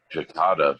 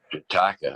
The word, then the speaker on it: Jataka: I mean, I thought it was Jakarta for the longest time, and then I found out it was Jat, and Jataka.